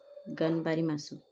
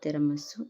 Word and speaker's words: ganbarimasu: Ganbarimasu, tiramisu, France laugh. Not tiramisu, it's pronounced ganbarimasu, and it means trying your hardest to achieve an objective.